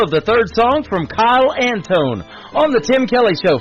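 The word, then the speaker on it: Kile Antone: I'll Be There Soon, the title of the third song from Kyle Antone on The Tim Kelly Show from KICR, Indie Country Radio, New Country's Best on Triple Play Thursday.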